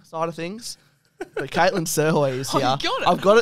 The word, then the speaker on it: Srhoj: her last name, but in brackets, pronounced Srhoj. Thank goodness for the internet.